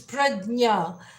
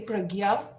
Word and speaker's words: Prajna: Actually, it's Prajna, and but people also say Pragya.